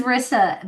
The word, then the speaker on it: Risa: Well, my name is Rissa, but it's spelled with one S, and that always messes people up.